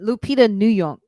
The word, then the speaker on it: Lupita Nyong'o: Lupita Nyong'o. Am I saying it right? Lupita, yeah. I'm saying it. Lupita Nyong'o.